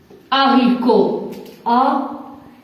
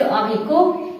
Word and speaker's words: haricot: Deuxième exemple, le haricot. Ici, comme vous voyez, T ne se prononce pas. Le haricot, les haricots.